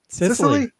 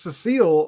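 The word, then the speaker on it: Cecily: just easier miss c how do you pronounce that name sicily i thought it was cecile all the whole time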